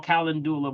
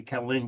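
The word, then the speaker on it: calendula: a Cula which or some may call kalandula but it's rather actually Cula okay that's I say it's not is Cula all right so that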